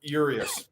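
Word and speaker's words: Urías: tomorrow so let's talk about let's talk about yurious which is how you say his name your eyes yeah yurious but whatever um i heard today and and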